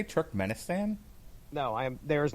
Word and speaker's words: Turkmenistan: part of the world tick sinistan tick sinistan are you trying to say turkmenistan no i am there